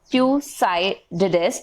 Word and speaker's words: Thucydides: It can be pronounced as Thucydides.